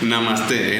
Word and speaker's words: Namaste: Namaste, N-A-M-A-S-T, con acento en la... es como mamaste, pero en francés.